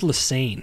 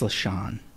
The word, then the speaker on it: Lesane: His name was that says Lassane. I think it's LaShawn. Oh, well, that says Lassane. It does say Lassane, but I that's think they how it's pronounce spelled, it though. LaShawn. Yeah, Lesane. Yeah.